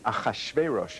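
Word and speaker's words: Ahasuerus: at that time King aash veros as it is pronounced in Hebrew um appointed hmon or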